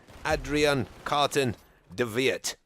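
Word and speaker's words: Adrian Carton de Wiart: And I'm going to refer to him as Carton in this video because the British have some problem with W's pronounced as V's, which I think is how you actually pronounce his name.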